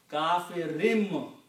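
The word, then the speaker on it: كَافِرٍ: If there is a ba after noon, then noon is pronounced as meme. Kafirun will become kafirin. Okay? And why it become kafirin? Because of this sound of kasra. Kafirin bihi. So you actually pronounce, this is the reason there is a little meme there. Kafirim bihi. The word is kafirun, but the effect of B is that it's sounding like a meme.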